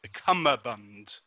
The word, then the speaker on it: cummerbund: shocks me is that it's pronounced cummerbund that's what I've been saying it wrong that's why I thought